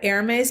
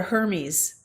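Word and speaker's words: Hermès: Okay, I didn't know what an Hermes bag was. And so, Oh, yes. I got here and I called it a Hermes.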